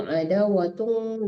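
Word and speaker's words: عَدَاوَةٌ: Wa bainahu adawatun didengung ya, bukan natun ya.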